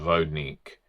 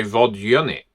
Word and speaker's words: Vodník: Well, pronunciation first of all, I was always taught Vodnik. You understand some people would just say Vodnik. Fine, fine, you can do that. Some people would say Vodunic. Point being they are a common myth spread across Europe, Germany, Austria, Czecha, Ukraine, Poland, lots of different pronunciations. We'll go for Vognik because that's what I know.